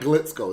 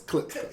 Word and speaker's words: Klitschko: With a K, yeah. Glitchko. Don't Yeah. let me pronounce it the wrong way. and No, shit. it's not Glitzko. It's Klitschko.